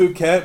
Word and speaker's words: Phuket: Yeah, So, I'm going to have another slew of stories if I end up I know it's doing pronounced that. Phuket, but it looks more like fuck it.